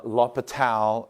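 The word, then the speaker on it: L'Hôpital: that is let's see l apostrophe h o p i t a l apostrophe s uh latal is about as close as I can get to pronouncing it correctly uh so lal's rule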